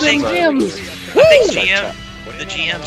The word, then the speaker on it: GM: Okay, is it GM or is it Jim? It's pronounced Jim in Japanese.